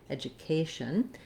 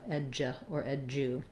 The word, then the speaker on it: education: as you're saying it education what i often hear in this word is that people will mispronounce this as a d sound and a u sound do instead of ja edjah and so we do